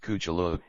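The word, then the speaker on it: Cthulhu: it came from as the name of lovecraft's fictional alien god can be pronounced kuchulu it seems more than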